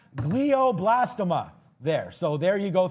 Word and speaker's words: glioblastoma: It's pronounced glioblastoma there.